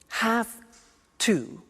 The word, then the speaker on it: have to: Notice I don't say V, I say F. Have. It becomes have to. Have to becomes in pronunciation have to.